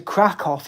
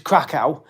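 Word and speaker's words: Kraków: Um, I would like to go to Crackoff in Poland, which is Crackow. It's pronounced Crackoff, actually, cuz my brother went there, and go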